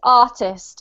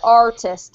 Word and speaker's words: artist: one here because i' I'd pronounce this artist okay as if there were no r but Marcos would pronounce it artist right or most of you would because yeah it's easier when you're when you're a foreigner I think to pronounce the r um well done guys